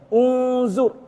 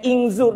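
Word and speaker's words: انظر: Ha deh ah cara bacanya deh baris di za tu ah baris depan maka alif wasal di depan dia tu baca baris depan unzur. Ha tu bukan inzur daklah inzur bukan anzur bukan juga.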